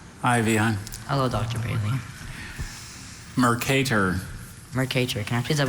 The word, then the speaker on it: Mercator: Are there any alternate pronunciations? Just the one, Mercator.